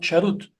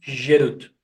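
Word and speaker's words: חֵרוּת: Diz o Midrash Shemot Rabbah que não se pronuncia Jarut, e sim Gerut, que é liberdade.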